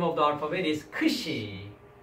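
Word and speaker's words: ξ: And then this one we call the name of the alphabet is Kshi. The pronunciation is KS, right? Ks. KS sound.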